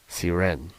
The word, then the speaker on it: Cyr: your name we are sitting here with Drew seren perfect that's how you say it will you